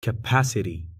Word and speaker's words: capacity: sur l'avant avant-dernière syllabe par exemple pour ce mot où est-ce que tu mets l'accent tonique bon déjà le mot finit par it et comme tu l'as dit on doit mettre l'accent sur l'avant avant dernier syllabe donc là ce sera sur le pas donc je vais dire capacity c'est bon bien joué